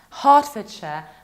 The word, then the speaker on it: Hertfordshire: And this one is Herefordshire, Hertfordshire, because we have middle ER that we pronounce like R. Heart, like my heart.